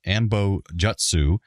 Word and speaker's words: anbo-jyutsu: Uh, the combat sport played between William and Kyle Riker is a fictional Japanese martial art called ambojutsu. Uh, in proper Japanese phonetics, this would be pronounced ambojutsu, which is how it was pronounced in the show.